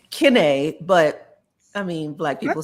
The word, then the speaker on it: Kiné: It's Ken, but I mean black people say Ken. They're like, "Okay, you." I'm like, "No, I'm Ken." It's still accented. You know the Ki. The I is pronounced E in French.